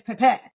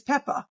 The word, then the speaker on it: Peppa: right this the um the stress remember we discussed before the stress on which syllable and I'm like Pepe and he's insisting it's Pepe and I'm like no it's not it's Peppa like no you know